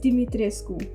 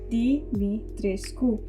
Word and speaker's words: Dimitrescu: That is not how you pronounce that name. It is Dimitrescu. Dee-mee-tres-Ku Like the famous Romanian painter: Ștefan Dimitrescu.